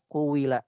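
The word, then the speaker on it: قيل: Jadi untuk kata kila itu kuila dibacanya. Cuma porsi dari dhammah itu lebih sedikit daripada kasrah.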